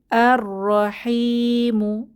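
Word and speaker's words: الرحيم: দ্বিতীয় লাইনে দেখতে পাচ্ছি আর রহিমু এখানে হচ্ছে হা এটা হচ্ছে হুরুফে শামসি তাই আমরা লামের উচ্চারণ করবো না আর রহিমু অর্থ অতি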